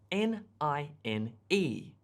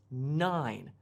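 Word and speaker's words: nine: If it were just N-I-N, it would be pronounced as nin, but it's 9 because it has the E on the end of the word, which lengthens the sound of the vowel.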